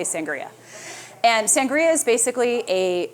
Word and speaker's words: sangria: One of my favorite beverages to make for summertime entertaining is sangria, or depending on where you're from, you might pronounce it sangria, which is probably more correct. But here I say sangria.